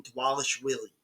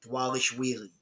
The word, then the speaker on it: Dvalishvili: Against morab the Machine dwes Willie and that is how you pronounce it dwes wheelie and I've got morab